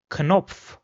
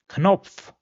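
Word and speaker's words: Knopf: Rather in German the ca or k is pronounced separately. So for example this word over here which means button will be pronounced as kop. Kop or this word which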